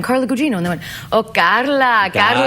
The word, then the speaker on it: Carla Gugino: And I was like, no, Carla, it's Italian, Carla Gugino.